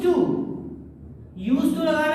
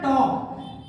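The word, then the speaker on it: talk: टॉक। TAL के एल इसमें silent रहता है, इसलिए इसको हम क्या पढ़ते हैं? टॉक पढ़ते हैं। बहुत से बच्चे इसको टाल के पढ़ते हैं, वो गलत है।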